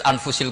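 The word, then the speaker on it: أنفس: Di sini ditulis anfasil kutub. Selalu saya baca anfasil kutub. Karena maknanya kitab terbaik. Kalau kitab terbaik bacanya bukan anfus tapi apa? Anfas.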